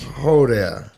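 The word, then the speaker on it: joder: So I'm looking at yo there, So it's pronounced like ho there.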